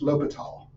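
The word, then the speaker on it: L'Hôpital: and what happened is in French the S wasn't pronounced so they dropped it and they just put a hat instead so this is pronounced lital so this is lal's Rule and it says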